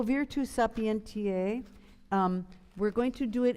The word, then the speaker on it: sapientiae: So instead of O virtus, a V would be a V in German, right? Sapientiae. An S would be a Z.